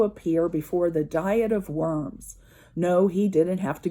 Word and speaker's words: Worms: town that was called Worms, and we usually pronounce it Worms, more like a V.